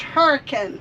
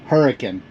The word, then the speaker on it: Hurricane: going to Hurricane Utah which we're told it's pronounced hurricane hurricane we're going to Hurricane Utah so the Lincoln